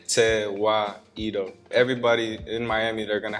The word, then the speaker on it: Tewahedo: they should pronounce it they should try to sound it out okay te why edo everybody in miami they're gonna have their own flavor to it so referred to wahido we've heard tweedo we've